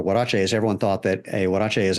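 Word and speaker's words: huaraches: wach so it's it's it's a Spanish word so the H is um it's kind of like a w really I mean the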